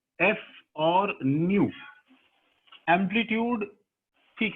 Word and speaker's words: nu: This symbol is called new while pronouncing this thing, ठीक है, we can actually call it न्यू, NU, ठीक है, तो ये एक्चुअली न्यू है और ये हमारा न्यू बार।